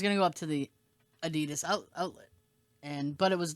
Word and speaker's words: Adidas: some good price sneakers i like i like adidas right or adidas as they say in europe that's how they say it yeah that's how they say in your manner eddie adidas eddie das that sounds like a uh like almost like